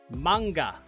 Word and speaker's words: manga: the rest of you it is in fact pronounced manga call me crazy